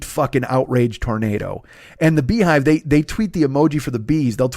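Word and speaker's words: BeyHive: So I guess the Beehive, but it's spelled Bey hive. So I'll say the Beehive because it's Beyonce, but I thought it was the Bayhive because of the way it was spelled.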